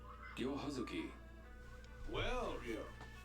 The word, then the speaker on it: Ryo: The Japanese R-L kind of a D consonant. I feel like I learned how to pronounce that properly from Shenmue specifically.